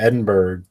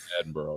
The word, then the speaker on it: Edinburgh: documentary he went to Edinburg I don't sure how to say it looks like Edinburg but they say like Edinburgh or something Edinburgh yeah yeah um and